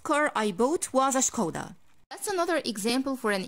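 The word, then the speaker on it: Škoda: This brand is a kinda shock for me, because we do not pronounce the S like an S. I say ch sound. So this is not a Skoda, this is Skoda.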